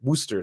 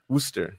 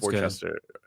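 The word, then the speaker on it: Worcester: look into traveling to if you need to Worster thank you uh if you need to travel Worster yeah well it looks like it's pronounced Worchester Worchester but it's it's wer oh I think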